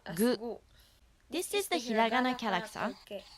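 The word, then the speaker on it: ぐ: Third one is the hiragana ku, pronounced as gu.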